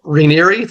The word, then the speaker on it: Raniere: We got a great guest today, Kyle Raniere. Did I pronounce it correctly, Kyle?